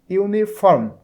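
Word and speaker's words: uniform: কিন্তু এখানে যে ওয়ার্ডটা রয়েছে দেখো ইউনিফর্ম এবং ইউনিট, ইউনিফর্ম, তাহলে শুরুতে আছে ইউ, উচ্চারণটা হচ্ছে ইউ, এই জন্য এখানে অ্যান ব্যবহার না করে আমরা এ ব্যবহার করব।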